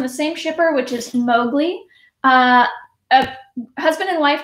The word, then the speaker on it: Moglia: is spelled m-o-g-l-e-a and you will want to call them moglia but their last name is mowgli it's just heart it's